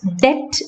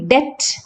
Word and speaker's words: debt: For example, let's look at these words, debt and doubt. In both these words, B is silent. We don't say debt or doubt. We have to say debt and doubt.